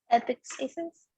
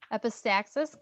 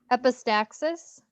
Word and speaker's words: epistaxis: Epistasis. Epistaxis, good. You can call it epistasis, that's fine. I won't judge you. What'd you call that? Epistaxis.